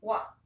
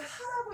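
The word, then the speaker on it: は: 이 글자가 어떠한 단어를 주어의 작용을 갖도록 도와주는 그런 품사, 주격 조사로 쓰일 때만 일시적으로 발음이 와가 되는 거예요. 자, 무엇은 이란 뜻입니다. 읽어볼게요. 합니다. 와.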